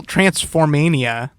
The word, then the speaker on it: Transformania: Hotel Transformania, which is a Hotel Transylvania movie. Yeah, I know. Oh, I'm just now getting. I wrote it down. So it's spelled TRANSFORMANIA, right? Transform, like Transformers.